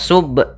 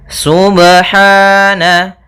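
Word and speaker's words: سبحان: pada lafal ba sukun Apabila ada huruf ba dia harakatnya sukun maka ada hukum Qalqalah maka harus dipantulkan dalam membacanya hati-hati juga dalam pantulannya jangan sampai ada tambahan Hamzah atau di dalam bacaannya ada sakta Misalnya subh ini sakta kalau dia tambah nzah Subhana harusnya dia sub ya Subhana Kemudian pada lafal ha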